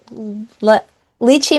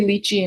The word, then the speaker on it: lychee: Okay, so now in the book, they drink lychee martinis. Is that correct? Um, Yeah, I think that Americans say lychee and Brits maybe say lychee. I always never okay, know what to say, so I switch.